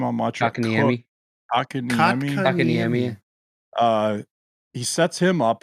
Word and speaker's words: Kotkaniemi: Kotkaniemi.